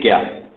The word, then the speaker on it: ज्ञान: ज्ञान योग अगर हम इंग्लिश भाषा में, अंग्रेजी भाषा में लिखते हैं तो JNANA प्रोनाउंसिएशन में आता है। उसे JNA ज्ञान, और हिंदी में तो